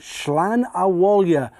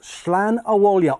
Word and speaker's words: Slan Abhaile: And the winner of this was number 15, Slan Abhaile. Thanks to racecourse commentator Jerry Hannon for the pronunciation of this horse. Slan Abhaile on debut for Lyons and Colin Keane.